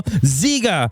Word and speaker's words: ZieGer: We are ZieGer from Japan. ZieGer, not G.